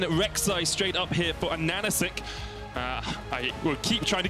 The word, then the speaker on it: AHaHaCiK: For those viewers, it's spelled, you see it, it's AHaHaCiK or whatever, but it's AHaHaCiK because the H's, as far as his in-game name, are meant to look like N's.